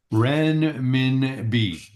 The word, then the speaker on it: renminbi: Renminbi.